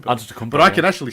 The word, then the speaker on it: Antetokounmpo: Almost as hard as the Tetakumpo. Antetokounmpo, But I can actually spell a Tetakumpo. Wait, A-N-T-E-K... No. Oh, okay. Well, I'll take a look because I've got him. He's down for JBT. A-N-T-E-T Antetokounmpo.